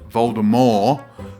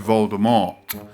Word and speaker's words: Voldemort: ago that Voldemort was actually intended to be pronounced Voldemort as opposed to Voldemort.